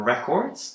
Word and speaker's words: record: However, if you put a stress on the second syllable and pronounce it as record, it is a verb, and it means to capture music or to make written records.